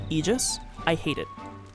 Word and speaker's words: aegis: I will say this as a Dota player, I hate that the the correct pronunciation of that word is egis. I hate it. Aegis is I don't know, it just sounds so much better.